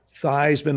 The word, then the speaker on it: Theismann: Chicago, inadvertently mentioned to Roger, hey, is that Theismann like an Heisman kid? And my name was pronounced Theismann.